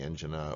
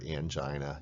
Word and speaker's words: angina: say a patient has the angina or angina either pronunciation is correct she's a list of